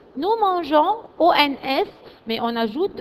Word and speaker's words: mangeons: Alors, en ce cas-là, on met la lettre E. E-O-N-S. Nous mangeons. Nous mangeons.